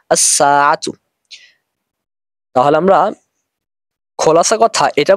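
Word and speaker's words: الساعة: আসবে তখন উচ্চারিত হবে আসসাতু এখানে লাম হরফটি উচ্চারণ হবে না কারণ সিনের শুরুতে যদি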